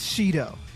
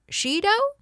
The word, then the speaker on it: Shido: Listen, I know that he pronounces his name as Shido. She like the number four and do presumably somehow for degrees Celsius.